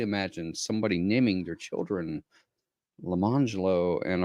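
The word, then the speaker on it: Lemonjello: jello and orange jello, but they were not pronounced lemon jello and orange jello. It was lemangelo and orangelo.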